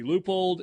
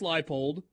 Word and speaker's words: Leipold: The two Kansas coaches have their last names mispronounced on the regular. We get the scope. Is he Leupold? Is he Leopold? Is he Leopold? Is he Leopold? Lance Leipold.